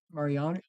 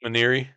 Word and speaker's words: Maneri: So did Mariani? How do you say his name? The head ball coach, did he bring him in this season? Maneri, Paul Maneri. Maneri.